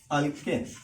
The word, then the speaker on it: alkane: ALK एक child है जिसको हम लोग प्रोनाउंस करेंगे अल्क। अल्क उसका नाम है। और इस अल्क को सपोज ANE ये फैमिली अगर अडॉप्ट करती है तो ऑब्वियसली इस बच्चे का नाम हो जाएगा अल्केन। अगर समझो यही अल्क अगर